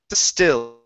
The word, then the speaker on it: still: All right, let's go to trying to sit still. To sit still. Trying to sit still. Trying to sit still. Okay, pronounce the L. You're saying still with an oo sound. It's oo. Still.